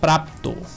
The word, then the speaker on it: প্রাপ্ত: এরকম দেখেন প্রাপ্ত, প্রাপ্ত, এই প্রাপ্ত উচ্চারণের শেষে দেখেন ত, এই প্রাপ্ত তটাকে যদি আমি উচ্চারণ করতে যাই তখন হবে ত, অ, অর্থাৎ শব্দের শেষে কি আছে?